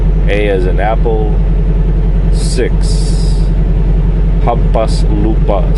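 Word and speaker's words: hampaslupa: just it's kind of weird pronounce but it's pronounced humas Lupa 6 it's all one word it's h a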